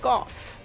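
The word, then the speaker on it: Gough: And his name is actually said out loud by someone in the game, and it's pronounced Goff.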